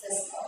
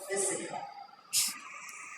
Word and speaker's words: fiscal: Fiscal, not physical. When people are pronouncing this word, they say it's not fiscal. Fiscal is P-H-Y-S-I-C-A-L. That is physical.